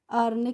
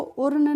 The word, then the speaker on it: urn: URN को हम पढ़ते हैं अर्न, क्योंकि फ्रेंड्स यू का